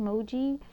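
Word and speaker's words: Mooji: So I believe it's spelled M-O-O-J-I, Moji.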